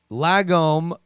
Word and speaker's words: lagom: Lagom should be spoken as la, like in car. La, car, lagom, like prom.